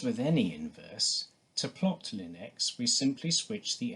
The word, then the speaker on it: ln: denote this by Ln which is pronounced simply as Lin we know from the